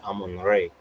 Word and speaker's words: Amun Ra: I hear Ray because you know another way to say Amun Ra is Amun Ray. It's another pronunciation.